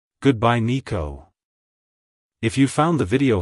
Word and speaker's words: Niko: to pronounce it correctly emphasize the first syllable NE and then the second syllable Co like hello Nico goodbye Nico if you found the